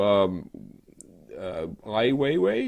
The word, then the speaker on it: Ai Weiwei: Which leads us to Ai Weiwei, is that how they pronounce the name? I believe so.